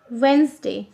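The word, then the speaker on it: Wednesday: डी ए वाई ट्यूजडे वेनसडे डब्लू ई डी एन ई एस डी ए वाई देखिए लिखने में wait नेस डे लिखेंगे लेकिन हम पढ़ेंगे वेनसडे डी साइलेंट है तो इसलिए हम पढ़ेंगे वेनसडे अब लिखेंगे थर्सडे टी एच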